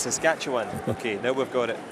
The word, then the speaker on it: Saskatchewan: Yeah, I was asking you how to say it properly. It's Saskatchewan.